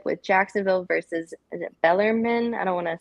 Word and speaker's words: Bellarmine: The first one up is going to be the ASUN Conference Championship with Jacksonville versus, is it Bellarmine? I don't want to say it wrong. Bellarmine.